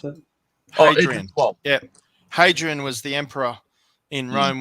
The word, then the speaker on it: Hadrian: newcastle um she's the history buff major here adrian's how you pronounce it yeah hadrian was the emperor in rome when they built